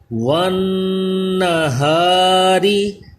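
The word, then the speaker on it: والنهار: آ گیا۔ فی قرطاسین۔ والنہاری، نون مشدد میں غنہ کریں اور را کو باریک پڑھا جائے گا کیونکہ را کے نیچے زیر ہے۔ والنہاری۔ نیکسٹ لائن میں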